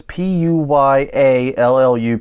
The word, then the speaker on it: Puyallup: One in Tacoma, Washington, and one in Puyallup, Washington. I think is how you say it. I'm guessing. I've never seen that collection of letters quite. It's Puyallup.